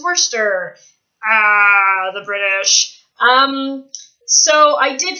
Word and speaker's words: Worcester: It looks like Worcestershire, but it's Worcester.